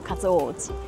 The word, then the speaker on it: 勝尾寺: ，所以呢就改成日文發音相同讀音的勝尾寺，一樣念作 Katsuoji。